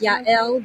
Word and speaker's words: Yael: got it's pronounced Yael, but I've gotten Yael, Yael, yeah.